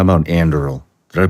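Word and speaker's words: Anduril: are involved in so many things how about Andel did I pronounce that correctly yes so andil is the one that Palmer lucky who got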